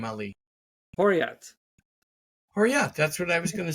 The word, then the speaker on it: Horriya: do you say your last name Ali hot horat that's what I was gonna say all right